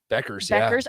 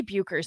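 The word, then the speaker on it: Bueckers: uconn especially with um paige becker i i want to say bukers there's me too it's not that's not how you say it um i covered a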